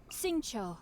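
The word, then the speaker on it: Xingqiu: How do you pronounce it? Hang on. Say your name, please. Singcho, at your service, Singcho.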